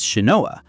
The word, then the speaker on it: Shinoa: Similarly, Shin's name is written as Ninja, but read as Shinoa.